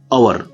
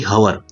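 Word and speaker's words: hour: देखिए कैसे कि अवर, देखिए यहाँ पर लिखा है एच बट ये साइलेंट, इसको पढ़ा जाता है अवर ना कि हवर।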